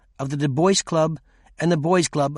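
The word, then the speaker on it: Du Bois: noted below note that in common American pronunciation the voice as in w eb des bois rhymes with rejoice also note that we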